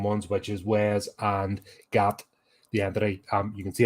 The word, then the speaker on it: Gat: He then goes into a bathroom and encounters Gat, but you feel like Gat. Apparently, that's the way you pronounce it in the alien term.